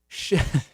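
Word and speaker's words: Xochitl: Amy says, Amy Shoshit says that the Nahuatl way to pronounce is Shoshit.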